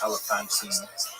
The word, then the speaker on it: Elephantine: remarkable discoveries in the interesting Jewish community of Elephantine, sometimes pronounced Elephantine.